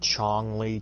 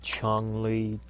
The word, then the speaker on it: Chun-Li: I've heard Chong-Li, Chung-Li, Chung-Li. I just call her Chun-Li.